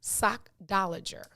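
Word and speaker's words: sockdolager: right cause i'm like it's the first part of sock last part is lager s-o-c-k-d-o-l-a-g-e-r it is pronounced sock dollager sock dollager sochtologer it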